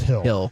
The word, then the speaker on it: Gil: The pitcher, it's Gil, but I think it's pronounced Hill.